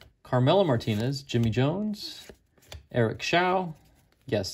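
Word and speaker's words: Show: Hawkins Keith Morland Carmela Martinez Jimmy Jones Eric sha yes it's pronounced Shia by the way John krook Dave leaper Tim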